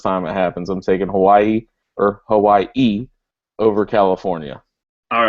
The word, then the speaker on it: Hawaii: Cal, number 4, or number 13, Hawaii. And by the way, nobody pronounces Hawaii with apostrophe I. That's bullshit. Stop doing that.